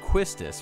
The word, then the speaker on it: Quistis: the first name to begin and it'll be pronounced quistus for the time being she hasn't had a